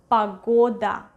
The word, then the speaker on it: погода: Погода, погода, погода. Do you hear which vowel is stressed? Yes, correct. Погода.